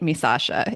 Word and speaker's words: Misasha: Like it's phonetic, right? Misasha. It is exactly how it's spelled.